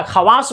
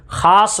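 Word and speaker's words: خواص: लिखा है खवास लेकिन क्या खवास बोला जाता है नहीं खास बोला जाता है खास लोग खास तो वाव तो तो लिखा जाएगा ऐसा नहीं है कि लिखने में आप इसको साइलेंट कर देना गलत हो जाएगा वाऊ लिखा जाएगा बट पढ़ा नहीं जाएगा ठीक है आप क्या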